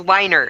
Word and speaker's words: Weiner: It's Weiner. It's not Wiener. It's Weiner. That's not going to make things better.